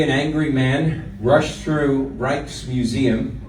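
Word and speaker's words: Rijks: angry man rushed through reich's museum r i j k s pronounced reichs in amsterdam until he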